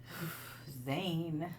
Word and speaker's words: Zane: Zane. Yeah. Your name rhymes with pain.